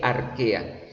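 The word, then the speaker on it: Archaea: son el dominio arquea se lee así se escribe arq pero se lee arquea el dominio bacteria y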